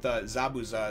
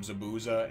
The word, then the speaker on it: Zabuza: I did this with Zabuza as well. I called him Zabuza, and it's actually Zabuza. You put more emphasis on the first part of it.